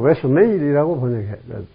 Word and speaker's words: rationale: 영어로는 rationale이라고 읽어야 되겠지만, 이거 moral이라고 하는 것은 도덕적인 것이 아니고 기운 같은 겁니다.